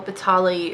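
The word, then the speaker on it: Bataille: Batali.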